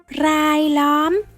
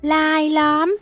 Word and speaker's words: รายล้อม: Chữ này đọc đúng chính tả là rai lõm, nhưng trong văn nói âm R sẽ được phát âm là âm L. Rai lõm sẽ được phát âm thành lai lõm, có nghĩa là xung quanh, vây quanh.